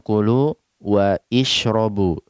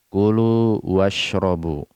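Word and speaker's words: كلوا واشربوا: kalian dan minumlah kalian kita tidak mengatakan kulu waisrobu tapi kita jatuhkan Hamzah washal dari pelafalan washrobu Kullu wasrobu seperti ini Toyib ini sedikit mengawali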